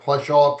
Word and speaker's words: Pleshaw: Pleshaw, is that how you pronounce it? It's indeed how you pronounce it. Pleshaw, present.